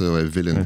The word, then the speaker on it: Vylan: Villain, ça se prononce Villain, comme pas gentil.